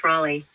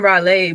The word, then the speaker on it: Raleigh: for calling about health Raleigh oh I was saying Brolly my bad was Raleigh oops my bad what